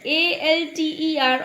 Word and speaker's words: altar: 2 words given, different spelling, same pronunciation. We just have to match with the meanings. Alter, A-L-T-E-R, alter and A-L-T-A-R, alter. So first alter means to change.